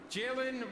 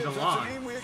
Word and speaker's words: Jalon: the Atlanta Falcons select, Jaylen Walker, defensive end, Georgia. Oh, Jalon. Is that Oh, is that how they say it? Jaylen. I've been saying Jalon.